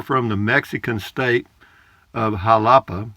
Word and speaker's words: Xalapa: the Mexican state of Jalapa, it's spelled Xalapa, but it's pronounced Jalapa, I guess, or Jalapa, then you are a jalapeno, same name as the pepper.